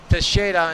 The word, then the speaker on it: Teixeira: How do you say it in Portuguese? Val Teixeira. Teixeira in Portuguese.